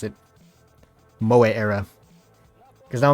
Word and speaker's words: Moe Era: Moe Era. Because now I'm going off like the actual Japanese pronunciation of the word and not just how people kind of describe it in English, which is just Mo.